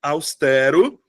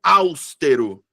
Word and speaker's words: austero: aqui pro austero tá Tem uma galera que pronuncia austero austero eu fico hã e Como assim então sílaba tônica é a penúltima sílaba então é paroxítona tem três sílabas tem 1 2 3